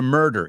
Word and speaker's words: murder: So they are chronicled 1 year after the murder. Y esta vamos a pronunciarla porque he oído murder, ¿no? Imagínate la U como una E.